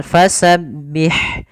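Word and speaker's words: فَسَبِّحْ: Kemudian pada lafal fasabbih sempurnakan kasrahnya, jangan dibaca e. Contoh fasabbih bihamdi, Ini kan tidak menyempurnakan kasrahnya. Harusnya kita ada itmamul harakat, menyempurnakan harakat kasrahnya. Kemudian pada lafal ha ada sifat hamas, mengalirnya nafas. Fasabbih, jangan bih, tapi dia pendek aja.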